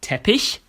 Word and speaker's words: Teppich: at the end it can be sh like teish meaning carpet or like B meaning